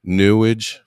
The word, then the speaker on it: Newage: stuff, witchcraft and UFOs, Newage. I'll call it Newage because it rhymes with sewage, like New Age.